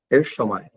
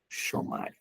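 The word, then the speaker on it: ἔρχομαι: A palavra vem, do grego, é Ershomai. Ershomai.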